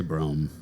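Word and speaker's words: brougham: I'm going to say brohm. Brohm. That's how you pronounce it. It's brohm.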